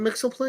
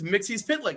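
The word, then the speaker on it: Mxyzptlk: thing was funny was it mix was it Mixel PL right yes yeah yeah yeah yeah yeah yeah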